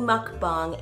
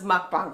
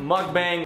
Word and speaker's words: mukbang: food mukbang style okay at least he pronounces mukbang properly I'll give him that I cannot tell you how many people mispronounce mukbang people who have mukbang channels stole my Big Bang mug bang muckety-muck bong mukbang ma i don't know where